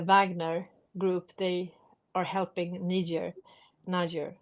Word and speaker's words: Niger: And also the Wagner group, they are helping Niger, how do you say that? Niger, yeah, to get rid of the French and the Americans And the Swedes.